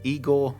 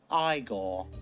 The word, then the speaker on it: Igor: He meets Igor. No, it's pronounced Igore.